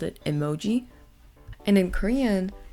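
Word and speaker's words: 絵文字: and then in Chinese this is just another pronunciation the last one we have here is emojis so this word is originally from Japan because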